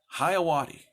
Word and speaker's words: Jeyawati: pronounce it Jo Latino hyah wotty hyah wotty the J has an H sound so say it with